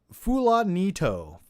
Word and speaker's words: Fulanito: It's pronounced Fulanito.